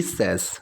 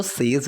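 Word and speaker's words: says: सो वो कहती है या फिर उसका कहना है, शी सेज, अब इसको सेज नहीं बोलते हैं, प्रोनाउंसिएशन होती है सेज।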